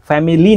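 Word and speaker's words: family: ওয়ার্ডটার উচ্চারণ করে normally ফ্যামিলি কিন্তু এটা সঠিক উচ্চারণ হচ্ছে ফ্যামিলি এই যে বোল্ড করে রেখেছি আইটা এটা কিন্তু এখানে সাইলেন্ট ফ্যামিলি না উচ্চারণ হবে ফ্যামিলি এরকম সবগুলোর ভিতরে বোল্ড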